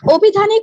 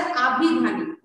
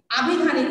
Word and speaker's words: আভিধানিক: তবে তুষ্ণি, একটি শব্দ অভিধানিক, এটা আসল উচ্চারণ মানে শুদ্ধ উচ্চারণ হচ্ছে আভিধানিক। হ্যাঁ, সরি, আগে আভিধানিক অর্থ, ঠিক আছে?